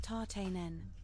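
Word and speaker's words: Tatenen: His name is pronounced tarten.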